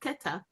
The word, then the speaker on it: Keta: the name after Koath, who we pronounce as Koath, but it's really Keta.